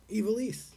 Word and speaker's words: Ivelisse: lucha underground star how do you say that ivelisse Ivelisse thank you I know but if not